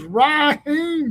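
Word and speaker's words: Rasheem: Man, his mama said the S is silent. His name is Raheem Biles.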